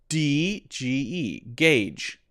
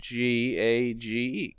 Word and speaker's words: gauge: GAGE, gauge. Okay, great. That's it. That's how you pronounce it. Gauge. Easy. Gauge. Long A sound because of the E at the end.